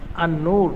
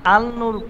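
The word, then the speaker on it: النور: বাংলাদেশে কিছু প্রতিষ্ঠান আছে আন নূর প্রতিষ্ঠান তো আন নূরের শুরুতে কেউ যদি আল নূর বলে হ্যাঁ তাহলে কি শব্দটা শুদ্ধ নাকি অশুদ্ধ এই যেটা অশুদ্ধ আছে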